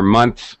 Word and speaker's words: months: Actually, a native speaker doesn't really say month. We don't draw it out and express every sound. We shorten it and say months really fast.